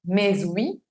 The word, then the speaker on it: mais oui: No diríamos mais oui, sino mais oui. La primera palabra, su última letra es muda, si está sola, decimos me, y se encuentra con oui, que empieza con vocal, pero pues es prohibida.